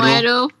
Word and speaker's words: Mweru: What's the proper way of pronouncing it? Is it Mweru or Mweru? Mweru.